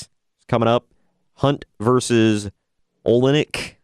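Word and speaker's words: Oleinik: Hunt versus Olenek, I think is how you say that name. Yeah, Olenek, yep.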